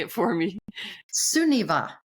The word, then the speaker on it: Sunniva: say it for me suniva sunniva it's a good Norwegian name yes are you you're